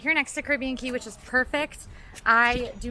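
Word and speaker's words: Caribe Cay: tell you what it is this is obviously pronounced caribbean key of course the other pronunciation would be caribbean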